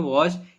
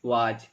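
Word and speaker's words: was: इसको आप लोग क्या पढ़ते हैं, वाज। लेकिन ये एक रॉन्ग प्रोनाउंसिएशन होता है, रियल प्रोनाउंसिएशन है वॉज। इसको हम लोग वॉज पढ़ते हैं, और WERE को हम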